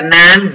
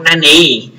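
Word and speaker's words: 何: Cái này á thì cái chữ Hán đó bình thường các bạn thấy nó đọc là nan, nhưng mà nó còn một cái cách đọc nữa là cách đọc nani.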